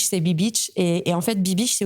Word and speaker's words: Be Beach: Et en même temps, la prononciation est assez ambiguë et c'est assez drôle. Les gens savent pas comment le dire et c'est très drôle. Et c'est Be-Beach, c'est Be-Beach.